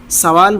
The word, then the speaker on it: سوال: کو سوال پڑھتے ہیں۔ تو صحیح تلفظ کیا ہے اس کا؟ سوال، نہ کہ سوال، سین کے پیش کے ساتھ۔ سوال کرنا، بھیک مانگنا۔